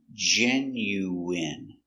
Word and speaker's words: genuine: J- J E J N Jen Jen Yen Yenu genu genu I genu genuine genuine genuine first syllable stress Genuine.